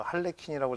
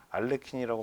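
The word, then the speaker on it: Harlequin: 말로 알레킨 신드롬이라고 합니다 저 h 묵음처리 돼서 할레인이라고 잘 발음이 안 되고 알레킨이라고 많이 발음을 한다는 것을 알아 주시기 바랍니다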